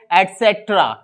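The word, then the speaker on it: et cetera: आज से क्या करेंगे ईटीसी को जो हिंदी में आप जाते हैं जानते हैं इत्यादि दी उसको इंग्लिश में हम बोलते हैं अटसेक्ट्रा आते सत्र आई होप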